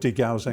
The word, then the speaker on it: degaussing: It's called degaussing. Degaussing, named after a scientist called Gauss, and also because it rhymes with delousing.